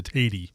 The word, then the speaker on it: Tady: So everyone knows that name Taddy, and then they assume. But my dad, in a moment of rebellion, changed the pronunciation to Tady. Okay. So there's just a few of us Tadys, but I answer to either one.